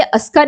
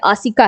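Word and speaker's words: Asika: Actually ये अस्का नहीं है, आसिका है। ओके, इसका सही प्रोनाउंसिएशन आसिका है।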